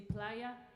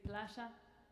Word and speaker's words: playa: We pronounce like they say playa, we say playa, and I think that